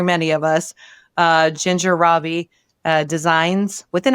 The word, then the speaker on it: Rabe: name cuz it's called it's pronounced Robbie, but it's r a b as in boy, as in Edward.